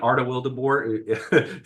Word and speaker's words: Arta Wildeboer: Arta Wildeboer. Sounds just like it's spelled, or spelled just like it sounds, I should say.